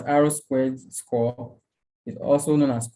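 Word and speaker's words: R²: The R2 pronounced as R squared score is also known as coefficient of determination.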